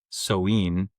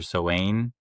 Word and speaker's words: Samhain: or pagan holiday called Samhain or Samhain. It's actually spelled Samhain. The pronunciation is completely different. It's like some Gaelic or something.